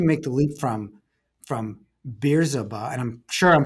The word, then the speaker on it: Bizerba: how did you make the leap from from beers about and i'm sure i'm pronouncing it wrong uh to um to um um so the exact pronunciation is bitsaba biserva and and bizerba stands it's an interesting story it's actually the